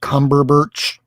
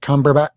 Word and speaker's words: Cumberbatch: And I mean until Doctor Strange was in a movie starring uh Benedict Cumberburch, Ben Benedict Cumberbatch, the guy that plays him from Sherlock.